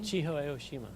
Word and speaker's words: Chiho Aoshima: I can't pronounce that. Chiho. I'm sorry. Say it, Riley. Chiho Aoshima.